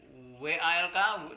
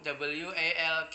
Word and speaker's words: walk: Kemudian jalan WALK, WALK coba bacanya walk. Ya, bacanya walk.